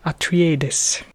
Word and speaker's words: Atreides: clip and listen to the first word paul atreides okay so first we have the name of